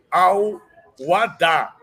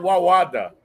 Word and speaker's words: Al-Wahda: Ele está nos ensinando a dizer Al-Wada. E durante décadas a gente falou Wawada, né? Agora a gente aprendeu duas coisas, que a pronúncia correta é Al-Wada e a gente aprendeu que o Al não dá.